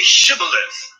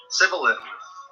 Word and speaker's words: shibboleth: they said to him then say shibboleth and he said sybil for he could not pronounce it right then they seized him